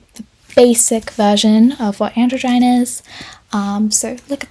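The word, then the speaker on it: androgyne: Moving on, we've got androgen that I always want to pronounce androgen, but I did look it up. So apparently it's pronounced androine anyway.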